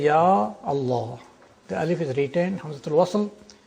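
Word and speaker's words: يا الله: don't omit pronounce but in one case the alif is retained is ya Allah. Ya Allah. You don't say Allah. You have to say yah Allah.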